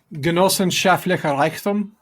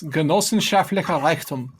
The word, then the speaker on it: Genossenschaftlicher Reichtum: Chris, can you pronounce this word, Chris? Genossenschaftlicher Reichtum. Ooh, that was worth the wait. Yeah. Chris, Socialist communal abundance. Genossenschaftlicher Reichtum.